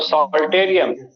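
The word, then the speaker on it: psalterium: ये जो कमिश्योर है इसका तीन नाम है, हिप्पोकैम्पल लोब को जोड़ा इसलिए एक नाम है हिप्पोकैम्पल कमिश्योर, दूसरा नाम है सॉल्टेरियम, पी साइलेंट है तो सॉल्टेरियम, और तीसरा नाम है लाइरा।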